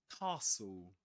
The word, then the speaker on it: castle: We don't pronounce the t sound in this case.